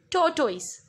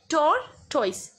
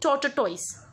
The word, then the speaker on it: tortoise: and other is tortoise speak it tor toys don't sit tata toys it's not torture ties its Tortoise and the hare hare